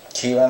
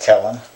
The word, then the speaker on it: Kellen: um who I believe I pronounced his name Ken last time I believe his name is pronounced Kellen so I apologize for that if I pronounce it correctly uh